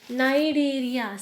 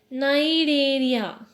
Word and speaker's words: Cnidaria: Next phylum is phylum Coelenterata, or called as Cnidaria. See, silent here. Phylum Coelenterata or Cnidaria, commonly called as Cnidarians. Cnidaria. C is silent.